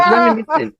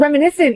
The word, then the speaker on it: reminiscent: Reminiscent. It's like you're trying to complicate the word more. Like reminiscent almost sounds like it's a fancier way of saying it, but it's just reminiscent.